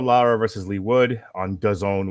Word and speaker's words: DAZN: And then Mauricio Lara versus Lee Wood on DAZN, which rhymes with calzone.